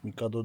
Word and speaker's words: Mikado: sobie wszystkie główki jigowe od Mikado J Mikado jo Tak to się poprawnie wymawia od rozmiaru S O